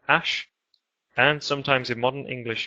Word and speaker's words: ash: And you have this final letter here, which is an sound, It's called ash.